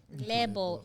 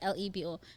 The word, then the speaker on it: Lebo: I'm like, no, Lebo, L-A. You say it L-A-B-O, but it's spelled L-E-B-O.